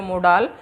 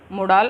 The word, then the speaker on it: modal: Pronunciation कर रही हूँ, बार बार मॉडल नहीं बोल रही। मॉडल का मीन होता है यहाँ पे, इसका मीन होता है प्रतिरूप, मॉडल का मीन होता है प्रतिरूप। पर यहाँ पे मैं क्या कर रही हूँ, प्रोनाउंसिएशन कर रही हूँ, यहाँ पे मैं मोडाल का। तो थोड़ा सा हमें डिफरेंस रखा है, मॉडल होता है प्रतिरूप होता है किसी चीज़ का, और मोडाल होता है, ये इतना सा